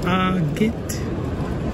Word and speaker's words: agate: Usually pronounced agate in America.